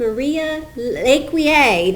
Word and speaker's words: Maria Lecuyer: it is a treat I am here with Maria leier did I pronounce it right yes you did great great